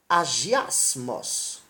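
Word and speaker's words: ἁγιασμός: La sanctification se dit en grec agiasmos, qui s'écrit H-A-G-I-A-S-M-A-S, et qui veut dire consécration du cœur.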